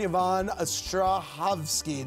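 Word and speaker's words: Yvonne Strahovski: Max Minghella, Samira Wiley, and Yvonne Ostrahovsky. Did I pronounce that correctly? Correct.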